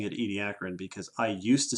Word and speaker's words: Ediacaran: out there that has seen the word Ediacaran EDI ACA ra n and wonder how to pronounce it we are pronouncing it Ediacaran because I used to say edy to Karen and then an Australian man scolded me yes